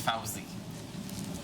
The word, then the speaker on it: Fauzi: Don't mind him, Fuzzy. He's just like that. It's Fauzi. Yeah, I know. Fuzzy. Like the bear.